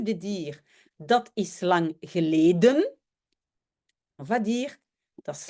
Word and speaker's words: geleden: dire dat is lang geleden. Et le geleden, c'est un peu bizarre. Donc, le E de geleden a disparu. Et on appelle ça dans la phonétique un coup de glotte.